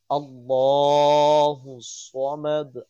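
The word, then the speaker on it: الله الصمد: উচ্চারণ করতে হয় আহাদ আল্লাহু সামাদ আল্লাহ মোটা করে উচ্চারণ করতে হবে আল্লাহুস সামাদ লাম ইয়ালিদ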